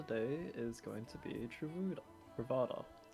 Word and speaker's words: Truvada: is going to be Truvada. Charuda Ravada? No, it's Truvada. I said it wrong the first time round. Truvada. Yeah. Travada. Yep. It sounds like Travago.